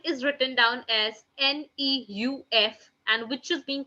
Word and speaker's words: neuf: 9 is written down as NEUF, and which is being pronounced as neuf, neuf, neuf.